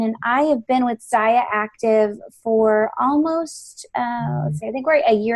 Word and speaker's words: Zyia: is what is it it's SIA rhymes with papaya and I told her